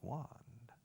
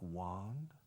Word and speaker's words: wand: And I said to my wife, honey, have you seen my magic wand? A wand, por cierto, wand se escribe W-A-N-D. Wand. Wand. Strange word, but we only use it.